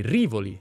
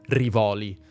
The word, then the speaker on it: Rivoli: La pronuncia corretta è Rivoli, non Rivoli.